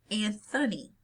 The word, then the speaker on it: Anthony: So, for example, as we pronounce Sir Anthony Hopkins' name, Anthony, not Anthony.